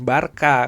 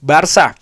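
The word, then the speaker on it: Barça: Barka ada ternyata ada orang dari Katalunya gua ditegur bukan Barca.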